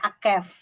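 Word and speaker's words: עקב: Sementara kalau tumit itu bacanya Akef.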